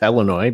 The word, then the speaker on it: Illinois: my former state of Illinois and yes I pronounce that as Illinois because that's exactly what it is there used